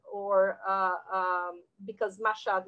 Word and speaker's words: Mashhad: people will pronounce it meshediz or uh um because mashad might be pronounced as meshed depends on where you're coming from i'm writing it as